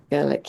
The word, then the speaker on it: Gerlich: And tell me if I'm pronouncing this right, Tracy. Uwe Gerlich? Yeah, Uwe, I would have said. Yeah, Uwe, okay. Gerlich, yeah. He started making this tool